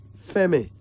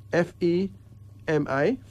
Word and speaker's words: Femi: Pronounced Eshe. It means life. A Swahili name out of East Africa. Femi. F-E-M-I.